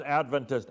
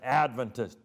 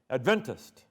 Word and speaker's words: Adventist: You pronounce Adventist, Adventist. Many non-Adventists will say Adventist. But if you're in a church, you know we're Adventist.